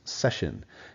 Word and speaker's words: Cession: The word is pronounced session. Has to do with seeding, C-E-D-E, seed, C-E-D-I-N-G, giving away territory.